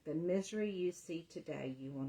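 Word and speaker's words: Misri: It's spelled M-I-S-R-I, and it is pronounced misery.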